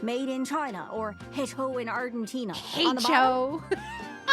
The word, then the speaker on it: hecho: made in China or Hecho in Argentina. On the bottom. Hecho. Pronouncing the H so strongly is so funny.